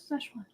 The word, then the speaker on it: Szechuan: Szechuan.